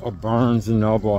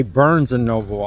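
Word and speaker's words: Barnes & Noble: It's because I just did a video in Barnes and Noble, however, I always pronounce it the wrong way. But I used to say Burns and Noble, I don't know why.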